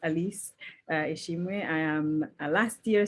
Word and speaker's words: Alice: elise by the way my name is pronounced elise i am a last